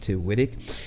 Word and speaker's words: Tiwitik: As you can see down here, the name of the channel is Tiwitik. It's pronounced Tiwitik.